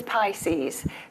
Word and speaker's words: PISCES: So this is Pisces, the private intermittent Securities and Capital Exchange System. Regulation, where the R is silent.